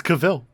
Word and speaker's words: Cavill: seems kind of weird isn't your name is not pronounced Henry Cavill he's like no no it's not it's Cavill why have you not